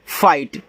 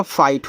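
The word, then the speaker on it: fight: ठीक है चलिए देखो एफ आई जी एच टी तो यहां जी एच आपका साइलेंट होता तो आपका आई जी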